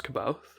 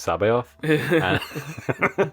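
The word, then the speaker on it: C'baoth: he says oh are you talking about jorus kabouth and hannah layer like who's joris kabouth so wedge says oh i like heard this rumor which is like actually it's pronounced sabe off well wedge can suck a dick so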